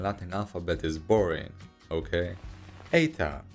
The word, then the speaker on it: eta: alphabet is boring okay eta in ancient times was actually pronounced like an age but nowadays it is an e sound i mean who came